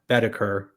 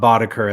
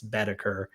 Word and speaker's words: Boetticher: This one today is a director, Bud Boetticher, not Boddicker, as I've been saying. That's the one error. Apparently, I've been pronouncing his name wrong my whole life. I've been saying Boddicker, and it's Boetticher. Although some people say Boddicker too, so I'm not sure where it stands.